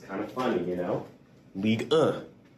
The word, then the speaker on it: Ligue 1: But the 1 is pronounced as So it's kind of funny, you know? Ligue 1. Ligue 1.